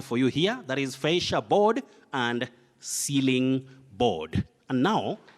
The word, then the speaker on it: fascia board: Anyway, you say, many people say fisherboard, fisherboard, but that is incorrect.